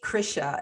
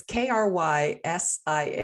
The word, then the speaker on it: Krysia: It's actually Krysia, and it's spelled really funky. It's Krysia, and it means Christina.